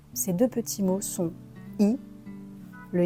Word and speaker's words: y: Donc il est nécessaire de les comprendre et de les utiliser. On commence avec le premier pronom donc le Y qu'on va prononcer I comme la lettre I. I tout simplement.